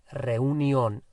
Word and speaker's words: reunión: So, la reunión. La reunión, spelt the same as in English, but with an accent on the O.